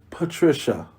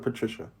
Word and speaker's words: Patricia: You gotta pronounce it for people who don't know. Patricia. Thank you. you. Are you happy? I'm joyful. If I could pronounce Luka Doncic, I should be fine with Patricia.